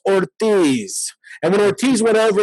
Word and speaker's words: Ortiz: And people go, Ortiz. That is not, you don't roll an R. No. You roll a double R, okay? But that is Ortiz.